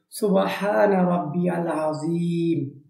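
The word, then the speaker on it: سبحان ربي العظيم: জের মিম জের মি কিন্তু তেলাওয়াত করার সময় আসবে না আজিম হবে অর্থাৎ মিমটা সাকিন হয়ে যাবে তাহলে সঠিক উচ্চারণটা কিভাবে হবে সুবহানা রাব্বিয়াল আজিম এটা হচ্ছে রুকুতে পড়ে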